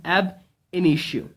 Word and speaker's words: ab initio: is a dwarf and here is the pronunciation of this word that is ab initio okay it is AB an issue okay so it actually